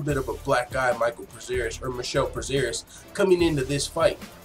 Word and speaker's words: Michel: This fight, man, Michel Prazeres, his name's spelled Michael, but they pronounce it Michel, so that's how I'm going to pronounce it.